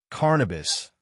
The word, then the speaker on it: Carnabus: Carnabus. The same pronunciation as cannabis.